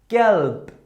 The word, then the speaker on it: gelb: If letter B was at the end of the word, it should be pronounced like weak P.